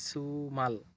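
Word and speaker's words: 주말: জিউত শব্দের শুরুতে থাকলে সু হবে, সুতরাং এটার উচ্চারণ হবে সুমাল।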